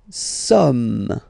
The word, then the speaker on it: sommes: Nous sommes. Okay, nous sommes. Okay, so you don't pronounce the final S here, it doesn't exist.